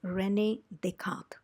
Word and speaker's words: René: A mathematician and scientist ; and in French , you pronounce the name as René .